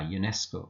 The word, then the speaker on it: UNESCO: a European car a UNESCO official now the word European begins with e but e is not pronounced it is U which is pronounced UNESCO which is U which is pronounced so that's why despite